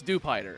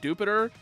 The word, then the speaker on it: Dewpider: It's kind of funny to me that apparently Dewpider is supposed to be pronounced like Jupiter. No, that's just the localization team being fucking stupid. It's a spider. It's Dewpider. It's not hard to understand.